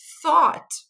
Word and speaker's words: thought: A segunda palavra é thought, certo? O que eu quero que você perceba antes de mais nada, visto que a gente está falando de pronúncia aqui, é que o GH ele é silencioso, gente.